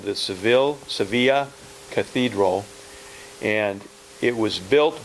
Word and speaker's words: Sevilla: we've arrived in Sevilla it's spelled Seville but it's pronounced Sevilla this is the largest